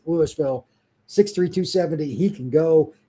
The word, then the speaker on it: Louisville: Spelled like Louisville, but it's allegedly pronounced Louisville.